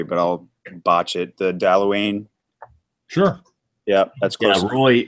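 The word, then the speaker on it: Dalwhinnie: pronounce the distillery but I'll watch it the dalla Wien sure yeah that's good boy Roy has given us a pronounced pronunciation of that one dal weenie Dewayne doll weenie no not da weenie da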